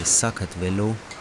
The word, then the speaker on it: Sakartvelo: back in the days Georgia or like locals say socket Velo was part of the